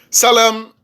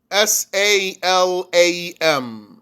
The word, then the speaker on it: Salam: Salam, S-A-L-A-M. Salam. Like salam, but there's no stretch in it.